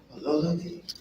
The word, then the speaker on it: Ololodi: I love the way the Yoruba say it. How do I say it right? Ololodi. It's with so much energy, quality.